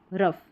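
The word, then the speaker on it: rough: एक तरीके से आप ऐसे भी याद रख सकते हैं कि ओ यू के बाद में जी एच आ रहा है, तो इसको जी एच को हम फ प्रोनाउंस करें।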